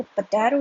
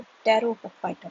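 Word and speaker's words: Pterophyta: यहाँ पर जो टेरोफाइटा है जो लिखा हुआ है, इसमें ये चीज़ ध्यान रखें कि टी साइलेंट होता है, ओके, इसलिए टेरो, इसको पटैरो नहीं बोलेंगे, इसको टेरोफाइटा बोलेंगे, ओके।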